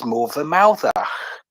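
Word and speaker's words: Morfa Mawddach: I'm going to spell this word for you. So MORFA, and there's a space, then MAWDDACH, which is Morvermouthach, right?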